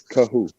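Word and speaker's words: Kohou: Kahu. On the ball, the middle. Like, it sounds like Ka, but it's Kahu.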